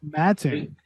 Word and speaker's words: Mattoon: Mattoon, right? Not Mattoon, Yes. Mattoon.